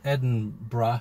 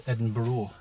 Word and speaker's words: Edinburgh: to pronounce it because a lot of Americans pronounce this place and Eden bra as Edinboro an Edinboro which I